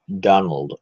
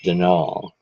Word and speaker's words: Donal: go talk to denal not Donald mind you there's no D at the end it's denol which is the right way to spell it which is to say that's the way the Irish spell it maybe I'll call Allan